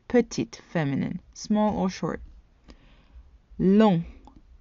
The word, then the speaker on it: long: Long, long. The G is silent in the masculine form.